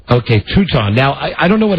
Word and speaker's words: Teuton: I don't know how to pronounce it. Teuton. Okay, Teuton.